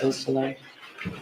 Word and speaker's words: Beausoleil: Could you tell me the pronunciation of Madison Baldwin's mother's name, Nicole Beausoleil? Yes. Beausoleil.